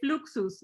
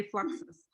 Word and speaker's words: Fluxus: for his pronunciation but hispanic people we say fluxus we don't say fluxes i like it i like it i like the way that that pronunciation fluxus because let's not forget that fluxus comes from latin so he was